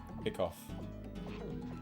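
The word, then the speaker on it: hiccough: that uh we spell hiccups differently. Jet. Fun fact. Uh, with a O U G H like cough, hickoff, but still pronounced hiccup.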